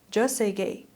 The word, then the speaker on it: Jeonsegye: Today, the man they call Worldwide, that's his name, Worldwide, or as South Koreans pronounce his name, Joe Seong-gae, has finally run out of runway.